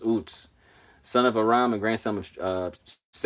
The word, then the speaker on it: Uz: Let's see, Uts. Okay, how to pronounce it says Uts.